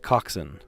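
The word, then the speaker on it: coxswain: It's c ox w a i n, pronounced coxin.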